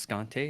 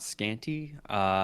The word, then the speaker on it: Scante: It is pronounced Scante and not Scanty.